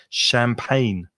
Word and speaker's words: champagne: grapes champagne and grapes so the g in champagne which of course is a french word is not pronounced in english pronunciation champagne champagne did you drink champagne